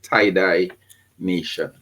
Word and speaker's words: TiDi Nation: The name, as they probably can see with my name here, is TID Nation, and we pronounce it tiedye nation.